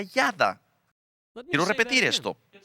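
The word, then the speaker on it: ידע: Es una palabra que en hebreo se pronuncia yada. Quiero repetir esto. Es una palabra que se pronuncia yada en el hebreo.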